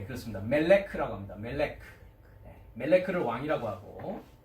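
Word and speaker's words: מלך: 히브리어 스트롱 번호는 4428번인데 뭐라고 발음합니까? 예, 그렇습니다. 멜레크라고 합니다.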